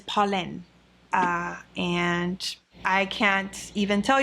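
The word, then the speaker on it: Polène: French finally corrected me I was pronouncing the name wrong I would call it Pauline and it is pollen and I can't even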